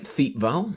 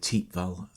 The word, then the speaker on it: Thiepval: as matt just just said um it's the teep val memorial because it's on the t val ridge uh notice the pronunciation it looks like thiep vowel but it's actually pronounced teep val here um it's a memorial to the missing